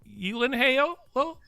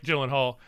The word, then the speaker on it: Gyllenhaal: Um U uh it's actually Elen Ho. Like it's not anything like Gyllenhaal at all. Uh is how you actually pronounce it.